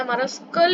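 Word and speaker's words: humerus: shoulder यह रहा देखो हमेरस कहते हैं और उसकी अच्छी प्रोनाउंस है हमरस गई थी उसके बाद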